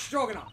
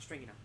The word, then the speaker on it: Stroganoff: It's Stroganoff, not Stringy Knot.